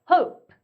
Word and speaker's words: hope: hope, hope, hope 이렇게 되겠죠?